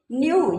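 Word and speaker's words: knew: योद्धा को कहते हैं न्यू जानते थे यहां पे केस साइलेंट होता है न्यू जानते थे हाउ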